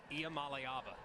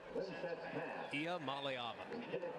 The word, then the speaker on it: Iamaleava: And can you pronounce Nico's name for me again? Nico Iamaleava. Iamaleava.